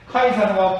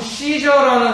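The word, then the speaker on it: Caesar: 근데 시저라고 읽으면 안 되고요. 카이사르라고 읽는 게 좀 더 정확하겠죠. 카이사르. 케사르라고도 하는데요. 하여간 원어에 가깝게끔 발음을 한다면 카이사르가 되겠습니다.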